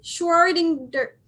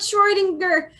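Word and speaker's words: Schrödinger: do it sure sure give me a second shorting dirt I know how to pronounce it I know about Schrodinger destroying this pronunciation I love Google Schrodinger congratulations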